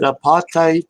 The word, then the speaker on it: apatite: Is it apatite, Sherry? Is that how you pronounce it?